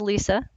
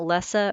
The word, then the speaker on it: Lisa: It is pronounced Lisa, so there's no Z. It's not Lessa or Lisa.